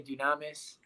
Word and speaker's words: Dunamis: That's what, Some people pronounce it Dunamis. I say Dunamis.